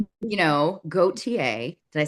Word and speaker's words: Gauthier: Much like your last name, you know, goateier.